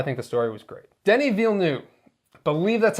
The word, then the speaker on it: Denis Villeneuve: Denis Villeneuve. Believe that's how you pronounce his name.